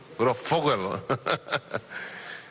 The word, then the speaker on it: Grosfoguel: Estuve viendo el programa que hicieron Juan José Bautista y el compañero Ramón Grossfogel, ¿cómo que se pronuncia tu apellido bien? Grossfogel.